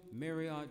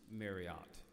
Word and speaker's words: Marriott: seated John Willard Bill Marriott Jr and I have been informed what the world does not know it isn't pronounced Marriott Marriott is how it is pronounced every Moses needs a